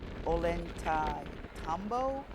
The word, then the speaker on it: Ollantaytambo: So we're making our way from the airport straight to the um bus station that would take us to Ollantaytambo. I believe that's the pronunciation for it because the Inca Rail does not reach all the way to Cusco.